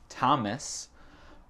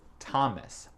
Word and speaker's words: Thomas: Elle a dit Josh Thomas, parce qu'en français, le prénom c'est Thomas. Mais en anglais, c'est Thomas. Ah, parfois le O, c'est un A. Ouais. Et l'accent tonique, c'est dans le premier syllabe. C'est Thomas, c'est pas Thomas.